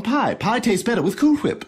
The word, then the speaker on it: Cool Whip: it doesn't bother you the way i pronounce it cool whip no why would it cool whip i'm putting emphasis on the h sounds right to me nothing ever bothers you